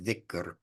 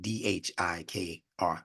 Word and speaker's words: dhikr: it transliterated as DH, dhikr. Sometimes you'll see it D-H-I-K-R, dhikr. Other places you'll see it written as thicker, but it's the same pronunciation, but they're spelling it T-H-I-K-R.